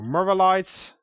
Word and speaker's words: morillite: That's how you say it. Morillite. There are no extra L's there.